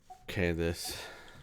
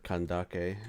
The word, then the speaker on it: Candace: Happy birthday, Candace. Or Kandake, as I've heard it's actually pronounced. But the game says Candace, so I'm just gonna keep calling her Candace.